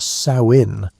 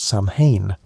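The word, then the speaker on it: Samhain: Samine was a festival that people pronounced sain like the female pig, not Saman, which is what most people think.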